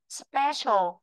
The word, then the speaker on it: special: Đó là từ special. Từ này là từ sơ sô này. Sơ đi về lơ ta đọc là special. Special.